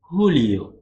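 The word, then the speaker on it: julio: ஜே வந்து நம்ம இங்கே வந்து ஹோட்டா. ஹோ ஹோ. அது அந்த மாதிரி தான் சொல்லுவோம். இப்போ வந்து அதுக்கு ஒரு உதாரணம் பார்த்தீங்கன்னா, 2 உதாரணம் இருக்கு. ஜூன், ஜூலை வந்து போட்டிருக்கேன். அத வந்து எப்படி உச்சரிக்கணும்னா, ஹூனியோ, ஹூலியோ. ஹூனியோனா ஜூன்.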